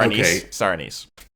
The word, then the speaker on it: anise: I say anis but I think people say it both ways or I could be saying it wrong but I prefer to say anis because anise sounds like a name or you're describing a relative.